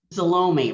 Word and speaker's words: Salome: berlin aye joanne solomon salome rhymes with baloney yes i council member